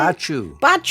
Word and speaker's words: Hoia Baciu: Baciu.